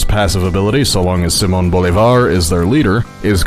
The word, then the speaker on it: Simón Bolívar: Namely, these civs are the Maya, led by Lady Six Sky, and Gran Colombia, led by Simon Bolivar. Or, as narrator Sean Bean pronounces his name, Simon Bolivar.